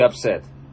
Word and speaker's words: upset: Вот не люблю поправлять грамматику, но, короче, she didn't want you to be upset. Upset это... Трогать. Ну, это глагол, и он тогда читается как upset. А когда как прилагательное upset.